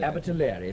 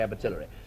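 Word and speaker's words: Abertillery: Immediately behind it comes I can never pronounce this Abileri. Abitali. Thank you. I always want to say Abatillery.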